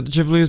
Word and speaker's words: Ghibli: Ghibli do you know that's kind of the jib leaves the right pronunciation but it sounds like it sounds like